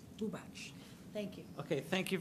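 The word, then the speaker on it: Bubacz: in cat, Z as in zebra, and it's pronounced Bubach. Bubach.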